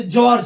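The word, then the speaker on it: George: ज होता है व जैसे जॉर्ज है जी ई ओ जीई ओ आर जी ई जॉर्ज यह एक नाम है लेकिन इस नाम में आप देखेंगे जी का जो उच्चारण है तो वो ज हुआ है यानी जी के दो उच्चारण होते हैं ग भी और ज भी उसके बाद एच का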